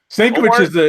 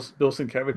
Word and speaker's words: Sienkiewicz: I ain't even gonna try to pronounce fucking Bill Sienkiewicz. Very good. Hey, look at that. Stankiewicz is what everybody in my store mispronounces his name, but yeah, that's how they pronounce it.